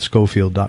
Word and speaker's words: Schofield: tell the truth in his last name is spelled SCH so it's Matt ma TT SCH o fi eld Matt Scofield calm he's also on